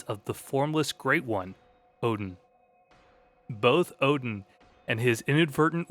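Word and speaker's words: Oedon: I pronounce it as Odin.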